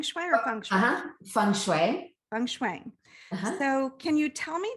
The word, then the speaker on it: feng shui: it correctly feng shui or functional feng shui feng shui so can you tell me just um a